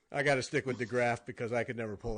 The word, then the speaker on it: DeGraaf: Our guest this week, DeGraaf of Modern Folk Embroidery. Hi. Hello. Okay, now I said it the American way. You got to say your last name the real way. So it's pronounced DeGraaf.